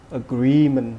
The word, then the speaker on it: agreement: the word agreement okay the stress in the second syllable you generate agreement okay and the definition